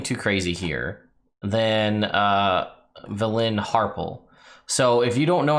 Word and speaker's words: Harpell: The Harpells, or Harpells, depending on how you pronounce it. I always go with Harpell because that's what Victor Bavine does in all the Drizzt books.